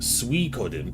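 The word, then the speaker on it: Suikoden: here let's see well suen pronounced sodin oh D I'm terrible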